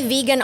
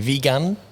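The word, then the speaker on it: Vigan: A few years back, we went to Vegan. Yep. Is my pronunciation right? Vegan.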